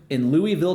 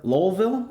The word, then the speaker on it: Louisville: Hersch has officially acquired Kentucky Kingdom and Hurricane Bay in Louisville, Kentucky, or Lowellville, I believe is how you would say it if you're from around those parts.